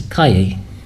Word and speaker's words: calle: The double L is a Y sound, so chicken is pollo and street is calle, or some places calle, but if you calle, double L sound.